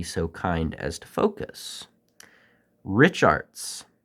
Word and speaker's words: Richartz: kind as to focus Rich arts and if you're going to try another pronunciation maybe Rick Arts but nonetheless this brand